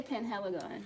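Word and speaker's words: Penhaligon's: how you say it, Pengalagons? I don't remember. Yeah. Galagon or something like that. Yeah, right there. I would say Penheligon. That's how it's spelled in English.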